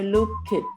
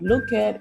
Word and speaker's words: looked: and i often say it's not look at it's looked with a sound at the back yeah again there it's a kt kind of sound so we say i looked at the picture yesterday so you quickly roll the k sound into the t sound so i looked at